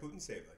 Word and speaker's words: Putintseva: But Putintseva, how do you say her name, Isaac? Yeah, that's right, Putintseva.